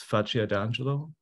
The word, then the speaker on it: Faccio d'Angelo: The exhibition is titled, and you'll have to help me with the pronunciation, but I think it's Faccio d'Angelo. Exactly.